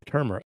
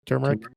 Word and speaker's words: turmeric: and then a little turmer turmeric how do you say that turmeric turmeric there you go turmeric think that's